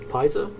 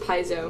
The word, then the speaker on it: Paizo: okay and also from pies uh passio paiso i think it's pie so it might be peso but i think i think it's pronounced paizo paizo i think paiso is that's how we'll say it pronunciation diagrams are important